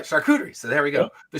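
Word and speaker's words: charcuterie: So, the shakuderie board or however you pronounce Yeah, that's how you say it. All right, shakuderie.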